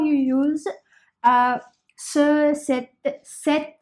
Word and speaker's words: cet: you use uh set set there is no difference in the pronunciation of this set then the set both are same okay now some uh